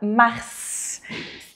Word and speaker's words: mars: Janvier “fe” acento agudo, février E agora a gente tem a palavra “mars” e uma exceção A gente vai pronunciar esse S. Esse S aqui ele aparece no mês de mars e aí nós temos agora